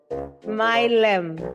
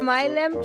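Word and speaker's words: Mileham: Honorable Mylem. Thank you, House Chairperson. Chairperson, you can pronounce it like Malema, but without the A on the end.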